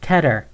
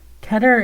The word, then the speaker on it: Keter: It's Keter. It's Keter. Keter. Keter. Keter is closer to how it's pronounced in Hebrew.